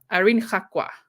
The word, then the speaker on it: Irene Gakwa: Your original pronunciation of a name would be spot on. Yeah. Irene Gakwa. That's how we would say it in South Africa, and I would say in Africa, we'd say Irene Gakwa.